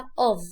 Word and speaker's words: of: of لو 2 f بس هنا f واحدة فاقولها of زي الفي كده. النطق بتاع الاف هنا زي الفي.